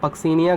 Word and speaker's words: Puccinia: ठीक है, लिख लो पक्सीनिया ग्रेमिनस। पक्सीनिया स्पेलिंग होगी दैट इज़ PUCCINIA, पक्सीनिया।